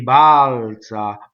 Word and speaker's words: balza: Mi balza, balza. So the A. First thing, no harmonization. Both A's should be exactly equal. Practice the A's.